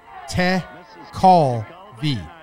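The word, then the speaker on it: Tekulve: it acceptor I love tent it says you pronounce it Ted call V to Cole V to cold his nickname was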